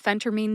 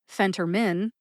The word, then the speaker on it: phentermine: of being a pharmacist number one phenter mine number two Phentermine and number three the correct one Phentermine Phentermine has three syllables Fen like Fenway Park home of the Boston Red Sox the pro baseball team tur like the tur and sister and mean like somebody's being mean or rude to you mean put